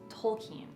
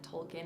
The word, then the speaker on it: Tolkien: not that many people talk about it is tolkien and i learned from that film the correct way to say j.r.r tolkien's name isn't tolkien it's tolkien i didn't know that before the